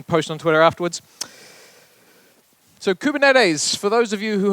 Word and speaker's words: Kubernetes: not heard of it is a Greek word which a gentleman in the audience early today had told me off of pronouncing wrong but I said I pronounced it better than most of my American colleagues so apologies to to